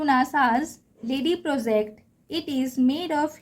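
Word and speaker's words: LADEE: ठीक है, इसका मीनिंग, इसका फुल फॉर्म होता है, बट इसका जो प्रोनाउंस होता है हम इसे लेडी पढ़ते हैं।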